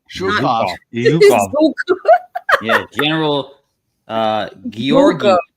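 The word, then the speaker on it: Georgy: Yeah, General Georgi.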